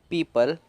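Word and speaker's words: people: पीपल, तो पीपल में जो ई और ओ है उसे सिर्फ ई पढ़ा जा रहा है, सिर्फ ई।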